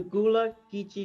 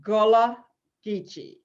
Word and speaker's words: Gullah Geechee: Tonight we're talking to Elder Carlie Towne with the Gullah Geechee Nation from South Carolina.